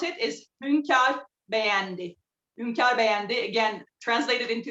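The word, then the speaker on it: Hünkar Beğendi: So in Turkish, the lamb stew that I'm making, the way we pronounce it is Hunkar Begendi.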